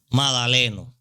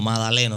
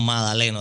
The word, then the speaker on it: Madaleno: Es el señor Eladio Magdaleno. No fue que lo pronuncié mal, es así mismo, Madaleno. No es Magdaleno, como la gente piensa, no, Madaleno, Eladio Madaleno.